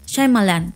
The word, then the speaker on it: Shyamalan: Yo ya vi cómo él se presentó a sí mismo y es Shyamalan.